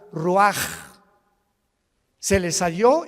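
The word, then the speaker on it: רוּחַ: Roach así como suena se pronuncia la ch en hebreo como J ruaj se le só y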